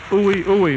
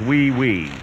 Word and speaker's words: oui: a material particle ah Hui Hui Monsieur great a manner that's pronounced oui oui well why don't they